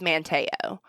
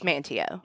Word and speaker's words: Manteo: it right every time it's manteo but you might hear me mispronounce that for the longest time i thought it was manteo but it's manteo okay yeah i pulled